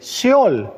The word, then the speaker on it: Sheol: original y es el concepto original se dice Seol claramente en algunas traducciones han puesto Seol Sí